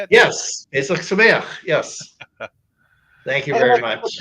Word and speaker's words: Pesach Sameach: Pesach Sameach.